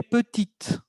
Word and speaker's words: petite: Elle est petite. Ah, aquí hay un cambio de pronunciación porque pasamos de masculino a femenino. Masculino, les repito, il est petit. femenino, elle est petite. La T se escucha.